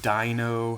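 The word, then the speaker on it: Deino: I say Dano. I pronounce the Hydreigon evolution line, the EI, with a A sound, because that's what I'm used to. A lot of people pronounce it with the I sound, so like Dino, Hydreigon.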